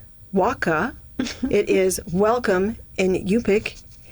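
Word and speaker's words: Waqaa: It is pronounced waka.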